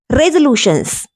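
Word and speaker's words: resolutions: रेजोल्यूशंस, इस तरह से इसका प्रोनाउंसिएशन होता है।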